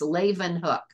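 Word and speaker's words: Leeuwenhoek: at that last name it's pronounced Leen hook he built his own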